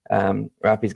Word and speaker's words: Rafi: Today we are hanging out with Rafi. Is that how you pronounce it? That's correct.